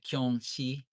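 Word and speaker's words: キョンシー: It's Kyonshi, which is Jiangxi in Chinese.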